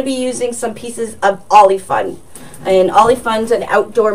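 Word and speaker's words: Oly Fun: The orange fabric is called Ollie Fun. And Ollie Fun can be purchased at any craft store. Joann's Fabrics and Hobby Lobby does carry Ollie Fun, and it's spelled O-L-Y space F-U-N. So Ollie Fun.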